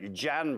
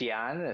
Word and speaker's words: Jan: Uh it's it's pronounced Yan.